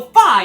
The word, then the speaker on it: Fi: titus's name wrong but you better believe i'll pronounce the weird blue lady's name correctly so phi is the spirit of